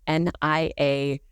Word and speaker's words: Niagara: So it's NIAGARA. There's an extra syllable in there that doesn't get said.